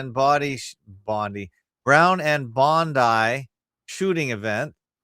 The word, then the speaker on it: Bondi: Also, I should point out that we pronounce Bondi like Bondi, not Bondi, as I hear most people in North America America and or Canada pronounce it.